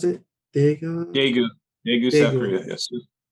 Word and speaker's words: Daegu: it's called The Black Traveler's Guide to how you pronounce it? Daegu? Daegu, Daegu, South Daegu.